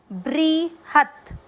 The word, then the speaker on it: बृहत: पहला चरण, अणु, णु के साथ में आधार अणुर, ब्री, ब्री का अर्थ हुआ ब आधा और री से ऋषि की मात्रा बी आर आई, ह पूरे के साथ आधा त, ब्री हत।